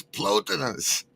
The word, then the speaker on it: Plotinus: It's Plotinus.